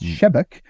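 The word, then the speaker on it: Sebeok: by some mutation called Thomas shebek he spelled sibioc but it's pronounced shebek who had this idea that the solution would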